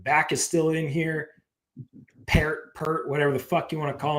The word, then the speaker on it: Peart: Okay, so this you is hate the pronunciation of yes, his name? it's Pert.